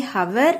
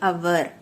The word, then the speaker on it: hour: The H at the start, okay, but that H is silent. So we don't say hour, we say hour. The first sound is an O sound, which is a vowel sound.